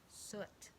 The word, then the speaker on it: soot: And his clothes were all tarnished with ashes and, it rhymes with foot, soot.